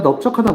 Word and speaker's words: 넓적: 넙죽, 넙둥, 넓적을 보면은 여기서 리을 비읍 이거는 넙으로 발음이 됩니다. 자, 넙죽, 넙둥, 넓적 보이시죠? 근데 원래 대표음은 널입니다. 넓다 이런 식으로 널지. 하지만 이 세 케이스에서만 이 넙이 넙으로 발음된다는 점 알아두시기 바랍니다.